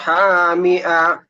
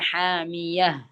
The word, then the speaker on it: حامية: തസ്ലാ നാറൻ ഹാമിഅ. ഹാമിഅ അല്ല ഹാമിയ. ഹായ് ഉച്ചാരണം. ഹാമിയ എന്നല്ല. തസ്ലാ നാറൻ ഹാമിയ.